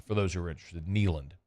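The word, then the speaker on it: Kneeland: potentially like um like neand if in fact he's there by the way it's spelled k NE l a n d for those who are interested neand like a knee like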